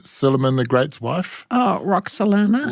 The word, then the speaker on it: Roxolana: Oh, Roxolana. Roxolana.